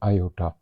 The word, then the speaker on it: iota: ये जो साइन है इसको हम लोग प्रोनाउंस करते हैं आयot।